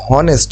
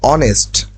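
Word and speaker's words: honest: মধ্যে একটা রুলস হচ্ছে এইচ এর পর যদি ও থাকে তখন উচ্চারণটা ও এর হয় এইচ এর উচ্চারণ তখন বিলুপ্ত হয়ে যায় তখন এটার উচ্চারণ হয় অনেস্ট অনেস্ট আচ্ছা তাহলে আমরা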